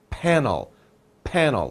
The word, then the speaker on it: panel: so solar panel and remember the p pronunciation panel panel lips together so we have solar